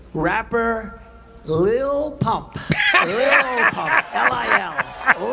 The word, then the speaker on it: Lil: L-I-L. Lil. I love I it. said, how do you pronounce that? They say Lil.